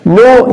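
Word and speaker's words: know: نو يعرف، الكي سايلنت لا تنطق، نيو هي بس هنخلي الاو اي، نيو عرف.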